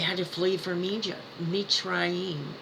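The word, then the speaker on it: מצרים: Mitzrayim is how you say it in Hebrew.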